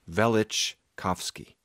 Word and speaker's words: Velichkovsky: People dispute the pronunciation of both his first and last name, but it's Velichkovsky.